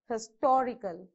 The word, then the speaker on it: historical: a stress equal historical so how many you have four syllables again so on the third syllable so one two three okay you have to stress on t in between s and t historical okay next how many